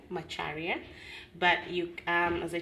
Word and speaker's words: Macharia: Macharia, but you um as I told you earlier, you can call me.